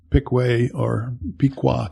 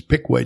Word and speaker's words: Piqua: And not too long ago, went out to Piqua, Kansas, where he was born. It should be pronounced Piqua, but it's Piqua to them.